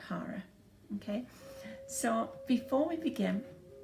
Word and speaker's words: hara: instincts where that is is your Hara H a are a and I spell it because people thought I was saying horror as in horror Center when in fact actually